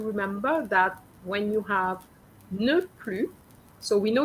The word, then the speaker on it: ne plus: Okay, so when you have ne, N-E-N, plus, P-L-U-S, is ne plus, not plus. Okay?